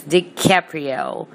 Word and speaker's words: DiCaprio: Yep, how Scorpio is DiCaprio. It rhymes.